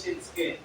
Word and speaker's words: Shitsuke: Pero, as I research about the pronunciation of it, I found out na ang tamang pronunciation is Shinsuke.